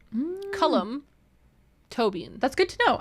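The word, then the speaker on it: Colm Tóibín: Comtobin is pronounced Cullum Tobin. Cullum Tobin. That's good to know. I can remember that because toe beans.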